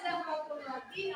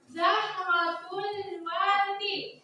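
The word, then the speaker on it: زهرة الورد: Artinya Zahratul Wardi adalah bunga. Nah, sekarang ikuti cara pelafalannya yang tepat ya. Zahratul wardi. Zahratul wardi.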